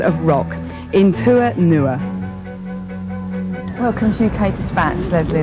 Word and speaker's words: In Tua Nua: And how do you pronounce it? In Tua Nua. In Tua Nua.